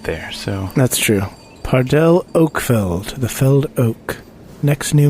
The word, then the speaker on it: Oakfeld: Oakfeld. Oakfeld and Felled Oak. Oakfeld and That's spelled the F-E-L-D.